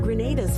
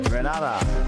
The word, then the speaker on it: Grenada: So, today, like we German say, we are in Granada. But I heard in English it's called Grenada.